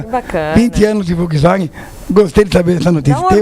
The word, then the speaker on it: Volkswagen: Não, é Volkswagen. Volkswagen. Volkswagen. Porque o Orlando Morando está em Wolfsburg. É isso? É porque o som de V tem F, então é Volkswagen.